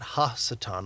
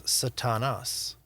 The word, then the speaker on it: Satan: Um in Hebrew we would pronounce it slightly differently as Satan and we would add ha to the front of that ha Satan or the Satan the adversary the accuser. And in Greek it's Satanas.